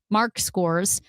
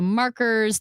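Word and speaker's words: Marxkors: but people will say Markers. They assume that one of the letters is silent because there's an X and a K right next to each other.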